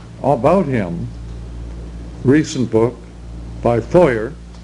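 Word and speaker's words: Feuer: Foyer. Louis J., I think. Louis J. Foyer. Does he spell it correctly?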